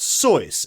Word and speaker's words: Seuss: false uh you know soy is the correct pronunciation it's German however after you know short time of trying to trying to correct people he decided it's not worth it and Seuss actually brought to mind